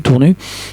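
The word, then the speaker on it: Tournus: C'est une sortie d'autoroute connue, Tournu. On ne prononce pas le S en l'occurrence.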